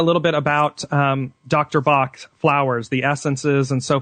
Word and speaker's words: Bach: man named Edwin be in in England we pronounce it Bach Edwin be in England uh left his practice